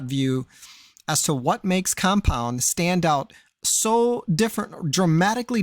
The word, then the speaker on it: Kompwnd: Now, uh even though it might be pronounced compound, the actual words are K O M P W N D.